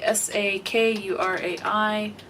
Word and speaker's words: Sakurai: again um let's see s a k u r a i pronunciation I want to make sure I say it correct Sakurai so Umi Sakurai from